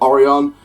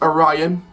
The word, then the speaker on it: Orion: a ryan now obviously in past videos have pronounced it Orry on it is Orion that's how it's pronounced as this has been